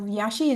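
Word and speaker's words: Iași: against um community of yashi was originally from the city of Yash or yashi or Yash yashi depends on how you pronounce it and um it is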